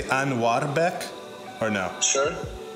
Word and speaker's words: Anuarbek: Properly, it's pronounced Anuarbek. So it's not like a rolled R? It's not R? I guess it can be. The way I've told people, like, we pronounce this, like, A-N-W-A-R, Anwar. Yeah. Anuarbek. Like, the root of my name is Anwar, and then Beck is, like, used to be a surname back in the olden days Beck.